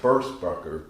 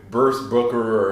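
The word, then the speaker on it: Burstbucker: guitar or gives them burst bunker 2 and 3. yeah i finally said that right after 20 shows i always say burst booker or something weird i finally pronounced it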